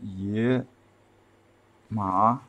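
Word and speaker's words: 野马: the meaning of this Cathy's Chinese name pronounced yeah ma your mom has nothing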